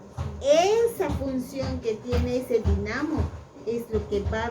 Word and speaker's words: dinamo: ¿Dinamo o dínamo? ¿Cómo se dice? Dinamo.